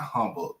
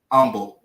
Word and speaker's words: Humble: They gonna say it's not Humble. The H is silent. Humble. It's Humble, Texas.